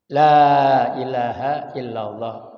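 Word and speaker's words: لا إله إلا الله: bla bla kecuali Lailahaillallah Lailahaillallah lamnya depan kalau di kalimatut tahlil kalimatut thayibah lamnya tolong dipanjangkan karena memang dua harakat ya La ilahaillallah tidak artinya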